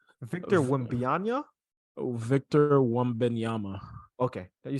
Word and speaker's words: Wembanyama: I mean, how do you pronounce his full name? Victor Wembanyama? Victor Wembanyama.